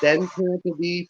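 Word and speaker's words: Tantive IV: oh the Tanta V it's Tanta V for 40 years okay and I know there's there's a lot of folks I get listen to in my playlist that when I hear mispronounce it said tant I'm usually yelling back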